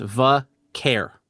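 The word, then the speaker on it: Vaquer: I think it's it's just vare.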